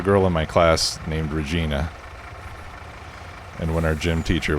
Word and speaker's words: Regina: me to say it is it really it's regina okay well when i was a kid well this was in middle school there was a girl in my class named regina and when our gym teacher was taking attendance